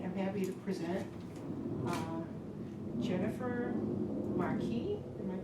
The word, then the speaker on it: Marquis: So tonight, I'm happy to present Jennifer Marquis, am I pronouncing it right?